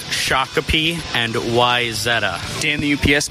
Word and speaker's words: Shakopee: beer and ax throwing Freedom pressed John it's pronounced Shakopee and wyzetta damn the UPS man great to